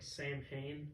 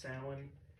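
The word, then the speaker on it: Samhain: be named after the mispronunciation of uh like Sam Hayne which is actually pronounced Salin which is the Celtic Festival that inspired what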